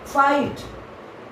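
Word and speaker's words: fight: फाइट लड़ना, इसको pronunciation को देखिए, इसके इसमें GH साइलेंट रहता है, फाइट।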